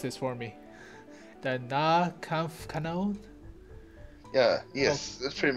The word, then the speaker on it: Nahkampfkanone: At tier 5 you have the, oh boy, you have to pronounce this for me, The Nahkampfkanone?